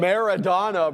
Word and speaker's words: Maradona: Madonna. Yeah, Madonna. How do you say it? Maradona, bro. Maradona, bro.